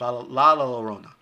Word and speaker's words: La Llorona: La Llorona. That's how it's pronounced. La Llorona.